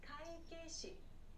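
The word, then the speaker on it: 会計士: Kaikeishi. This one, kaikeishi, means accountant. Accountant. So kaike-shi. Accountant. This word has these e sounds as well. Don't forget to pronounce those clearly.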